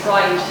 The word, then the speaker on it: Freund: Scott was chief of staff, and Dr. Friend, I believe you always pronounce it Friend, didn't you? I'd say Freund because it's German.